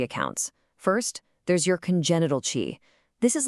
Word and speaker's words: qi: This is chi, pronouncedqi.